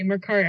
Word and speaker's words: Mercari: Is that how it's pronounced? Mercari? Mercari.